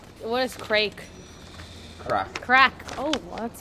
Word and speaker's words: craic: Crack. Crack. Oh, well, that's spelled Have you heard?